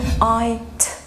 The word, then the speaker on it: light: light light. الجي اتش سايلنت letters مش موجودة.